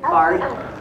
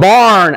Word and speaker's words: barred: This is called the barred owl. Not barn owl, but bar.